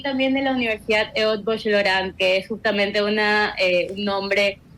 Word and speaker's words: Eötvös Loránd: docente de la Universidad Casa Grande y también de la Universidad Eötvös Loránd, que es justamente un nombre muy difícil de pronunciar, ¿no?